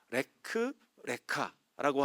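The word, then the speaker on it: לך לך: 레크 레카라고 하는 단어입니다. 똑같은 단어인데 이제 발음 기호만 다르게 붙어 있거든요.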